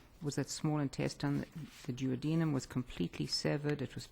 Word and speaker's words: duodenum: of the small intestine called the duodenum sometimes pronounced juanitam it's just the first